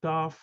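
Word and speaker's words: תו: And the last letters, Taf, is T, simple T, and this should be TH like thorough, but the Ashkenazim say it like S.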